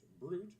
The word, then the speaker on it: Brewit: If you are looking to reach out to me, you can find me at Brewit, better pronounced Brute, which is fruit with a B, on the X, formerly and betterly known as Twitter.